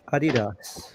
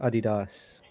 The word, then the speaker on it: Adidas: German brands too, like Adidas. That's another pronunciation in Sri Lanka. Growing up, we call this Adidas, and it's Adidas here.